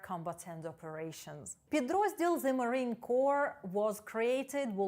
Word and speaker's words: Corps: The Marine Corps або The Marines – це корпус морської піхоти. Зверніть увагу на вимову слова корпус – Corps. Вимовляється без літер P та S.